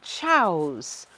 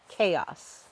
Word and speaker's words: chaos: he's like it created chows he's like i don't know this word let's look it up and i'm like it would help if you knew the correct pronunciation which is chaos not chows anyways my smart mouth